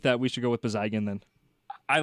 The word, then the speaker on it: Bezygin: I'm going to try Bizygin. Wheat King goal scored by number 5, Yaroslav Bezygin. Now, it doesn't roll quite like the first one. Yeah. Bezygin. I kind of like that hard G.